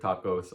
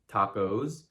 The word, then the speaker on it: tacos: make when they order tacos or burritos like a gringo. They say tacos, burritos. But that is overcomplicating things. You need to say tacos y burritos.